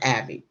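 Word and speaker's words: Aebi: uh uh Troy Abbey he spells his last name a-e-b-i but it's pronounced Abby he is the assistant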